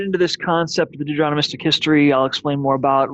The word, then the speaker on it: deuteronomistic: bit harder to pronounce not not always do you see it as Deuteronomic but deuteronomistic you just add another syllable in there the ist part deuteronomistic history now before